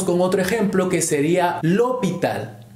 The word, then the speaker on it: l'hôpital: Ahora seguimos con otro ejemplo que sería l'hôpital. L'hôpital, en este caso empieza por H muda. Funciona de la misma manera.